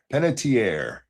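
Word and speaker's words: Panettiere: Um, Penetier is how it's pronounced.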